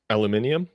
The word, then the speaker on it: aluminium: on the show Dame how the Brits say aluminum aluminium aluminium this portable scent machine